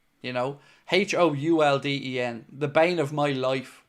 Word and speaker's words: Houlden: It's pronounced Houlden, by the way. I've no idea where the U came into my family name over the years. Like, it's weird, Houlden.